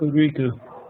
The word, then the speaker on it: Hokuriku: It's Lynn has lived in Japan, so I should probably let him pronounce the location in Toyama, Hokuriku, Japan. Hokuriku. There you go, boss. Huh? It's Hokuriku.